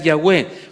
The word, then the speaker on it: Jehová: ese es su nombre Jehová Jehová que también se podría pronunciar yahwe para los que tienen